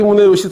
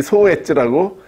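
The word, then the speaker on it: 宗悦: 야나기 소엣지라고. 책에 그렇게 돼 있어요. 근데 소엣지가 아니라 본인들이 문에요시로 읽어달라고 해서 문에요시로 읽었죠.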